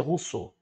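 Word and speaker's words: Rousseau: se inscreveu o social Jardim Social a gente pronuncia Russo o jacu Sul como filósofo Iluminista e contestam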